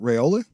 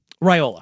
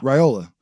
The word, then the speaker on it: Raiola: now, and that's and I always say his name, last name wrong, is Dylan Raola. Ryola. Raiola from Nebraska.